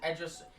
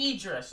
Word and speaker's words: Idris: And then we get on to Oreo Menzo versus Edris Edris Ani. I don't know how to pronounce that, but if I remember correctly, oh no, Idris, I'm sorry.